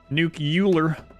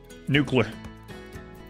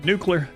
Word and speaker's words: nuclear: like 1,00 to 2200 nucular nuclear no that's not how I pronounce it I have heard people pronounce that way heard that a lot actually nuclear yeah nuca colola nuclear